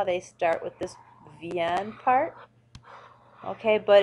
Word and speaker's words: vient: Je viens, tu viens, il, elle, ou on vient. Notice they're all pronounced the same.